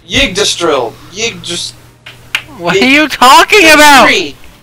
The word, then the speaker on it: Yggdrasil: I don't know how to say it. Yggdrizzle? No. It's Yggdrasil.